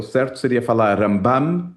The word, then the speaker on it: Rambam: Então o que o israelense faz é ele bota o acento na primeira sílaba quando é o maimôides, então é rambam. E para falar do narmanides, ele fala ramban. Então, Ramban com N é o Nahmanidis e Rambam é Maimonides.